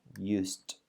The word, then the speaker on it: used: La pronunciación de este ed es como una T, used, para que se entienda bien.